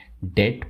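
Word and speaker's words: debt: और बात बताना चाहूंगा यहां पे जो बी है वो साइलेंट होता है इसलिए हम इसे डेट प्रोनाउंस करते हैं चुप रहने के अलावा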